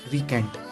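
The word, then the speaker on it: recant: तो इसका प्रोनाउंसिएशन होता है रिकेंट।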